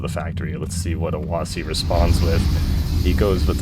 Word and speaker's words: Awasy: But yeah, we have Awasy, as I was told it's supposed to be pronounced, spawning in as the